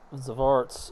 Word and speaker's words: Xvarts: This time I'll create some Xvarts or Zarts. I think it's Yeah, I think it's pronounced Zar. It's because the X sometimes sounds like a Z.